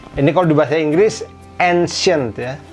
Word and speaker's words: ancien: Misalnya pakai, ini kalau di bahasa Inggris ancient ya. Bahasa Perancisnya ini ancien bacanya, dan tidak ada T-nya seperti di bahasa Inggris ya, beda ya. Mirip tapi nggak sama persis.